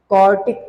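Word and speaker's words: quartic: आई एम not saying क्वाड्रेटिक, आई am just saying क्वार्टिक। Spelling पे ध्यान देना। यहाँ पे डी है, यहाँ पे क्या है? टी। क्वाड्रेटिक degree 2, क्वार्टिक degree 4।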